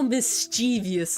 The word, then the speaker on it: mischievous: different context that stresses I think that stresses closer to the beginning because I would say like oh how mischievous of me you know oh quite mischievous I would say it that way but that thing is